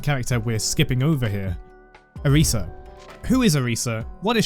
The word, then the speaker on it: Arisa: It should really be pronounced like Arisa or Alysa. As you can hear in game, my excuse is that I've played a bit too much Tekken.